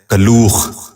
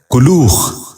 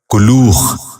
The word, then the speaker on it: کلوخ: غور سے سنیے، کلبلاہٹ۔ 13واں لفظ ہے کلوخ۔ یہ غلط تلفظ ہے، درست تلفظ ہے کلوخ۔ دوبارہ سنیے گا، کلوخ۔ بچوں آپ بھی غور سے سنیے، کلوخ۔ 14واں اور آخری لفظ